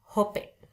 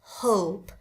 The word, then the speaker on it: hope: Limit, born, hope, bukan hop. Hop kayak home pimpah nanti.